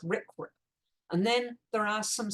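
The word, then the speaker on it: RCRA: conservation and Recovery Act this gets pronounced Rick and then there are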